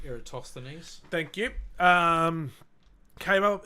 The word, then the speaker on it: Eratosthenes: years later another Greek scholar who I can't pronounce his name eratosthenese thank you um came up with a way